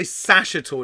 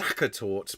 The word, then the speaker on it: Sachertorte: Number 2 was a lot of people say Sachertorte. It's actually pronounced Sachertorte, but Sachertorte. It's a Viennese chocolate cake invented by Franz Sacher.